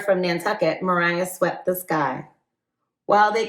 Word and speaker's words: Maria: just looked at that, I would have said Maria. I hope I didn't say Maria in this book, but the way that it was broken up at the beginning definitely was pronunciation for Mariah.